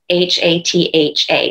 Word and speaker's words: hatha: say half a yoga h-a-t-h-a or in the south it's hatha yoga okay in sanskrit the t and the h don't make the sound that's only in english and so the proper